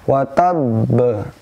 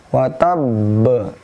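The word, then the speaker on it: وتب: Nah, di sini ada qalqalah yang bertasydid, cara membacanya sedikit berbeda, yaitu dengan ditahan sebentar. Perhatikan baik-baik, watab. Jadi watab ditahan sedikit. Tidak boleh ada hamzah di akhirnya, watab. Dan juga tidak boleh berlebihan, watab. Nah, salah.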